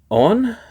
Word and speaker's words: onn: second Spotlight segment and John unboxes the the on TV from Walmart hello John here and today